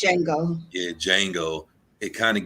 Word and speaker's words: Django: I think they said the D is silent, so It's Django. just Django.